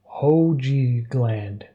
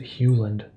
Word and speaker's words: Hoogland: And you know, my last name is pronounced Hoogland because it's Dutch, so many people pronounce it wrong. Hoogland. I had to approve your comment there because YouTube thought you were saying ho or something. Hoogland. Is that how you pronounce it? Okay. Yeah, because I guess if you were just English, you would pronounce it Hewland.